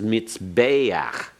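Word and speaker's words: מִזְבֵּחַ: And here's ano- another noun built on that, the place where you sacrifice is mizbe'ach. Mizbe'ach. Notice the patach furtive there, pronounced before the cheth.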